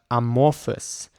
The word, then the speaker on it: amorphous: defined shape or form let's listen to the different ways of pronouncing it again amorphous amorphous so in British English it seems to be amorphous by and in this example amorphous and American English seems to be amorphous amorphous so I tend to